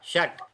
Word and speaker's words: षट्: ट नहीं, ट आधा। षट।